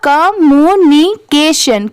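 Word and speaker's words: communication: जैसे अगर आप इसमें भी डिवाइड करना चाहें तो CA को K पढ़ेंगे और TION को हमेशा सन ही पढ़ते हैं, तो पूरा क्या हो जाएगा? कम्युनिकेशन, कम्युनिकेशन। इसकी प्रोनाउंसिएशन ऐसे आएगी, कम्युनिकेशन, कम्युनिकेशन।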